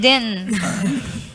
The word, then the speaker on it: Denton: We also pronounce the T in Denton. It's Denton.